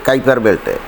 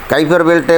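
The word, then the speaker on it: Kuiper Belt: 1430 kilometre এটা কোথায় আছে জানেন এটা আছে কাইপার বেল্টে কাইফার বেল্টে বা কুইফার বেল্ট এক উচ্চারণ করে কে জানে তো কুইফার বেল্ট বা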